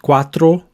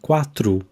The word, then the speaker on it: quatro: people will say TR the O at the end of words is normally pronounced as an o sound not a hard o but o so not quatro but quatu not s but s